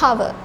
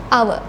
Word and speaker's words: hour: This H is silent in these words. We don't pronounce the H sound here. We don't say hour, don't make H sound. It's just hour.